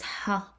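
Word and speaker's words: ح: You remember when we said we pronounce ha as if you're trying to get the air from the back of your throat, but it's close to H, but not exactly H, like ha, ha, ha, ha.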